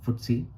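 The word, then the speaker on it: FTSE: Among these are the Nicay Japan, FDSC UK pronounced footsy, DAX Germany, Hangen Hong Kong and TSX Canada.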